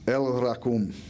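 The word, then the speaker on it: El Rachum: One of God's names is El Rakum, or as an Australian would say it, El Rakum, mate.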